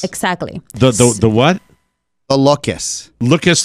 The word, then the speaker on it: Loques: Loques like rhymes with Tukus?